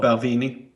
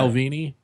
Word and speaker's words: Balvenie: Is it called Ballavini? Is that pronounced right? Yeah, Balvenie. Yeah, Balvini. yeah.